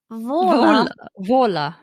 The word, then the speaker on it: Waller: She's put in brackets, pronounced Vola.